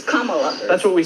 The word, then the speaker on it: Kamala: The way she pronounces her name is Kamala.